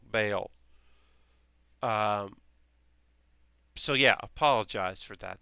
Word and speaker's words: Bael: I keep saying Ball. Bael. Bael.